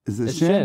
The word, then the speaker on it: Chene: Is it Chene, isn't it? Yeah, you're saying it right.